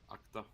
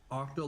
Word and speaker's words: Akta: Akta. Akta. Yeah. Akta. Svarthal. Yeah. Octo like 8? No. Like, ak. AKTA. Akta.